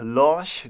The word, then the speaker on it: Lorch: But if you would go to a Lorch dealership, and that is how you pronounce that brand name, and would look for